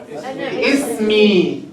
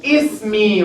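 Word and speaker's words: اسمي: Ismi. Huh? You see Hamzat Wasl? We pronounce it Ismi, right? Ismi.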